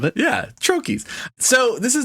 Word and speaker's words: troche: It's from a troche.